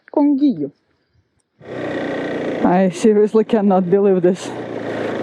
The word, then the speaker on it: Conguillío: Welcome to the national park Conguillío, I guess it's pronounced Conguillío.